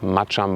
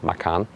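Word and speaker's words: Macan: match the pora macham really pronounced macham by the way we had an Indonesian fan that told us this is the right pronunciation and not Maan then is it the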